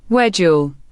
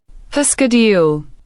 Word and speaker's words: schedule: Schedule, British, wedule. American, schedule.